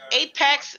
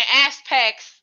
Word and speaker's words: Apex: Could Apex? Because I was saying Aspex for like 2 weeks, so I finally said it right.